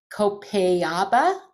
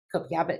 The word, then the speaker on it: Copaiba: Copaiba, I think, is how it is.